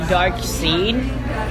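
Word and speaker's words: Darkseid: that annoying kid in second grade, but it's pronounced Dark Seed.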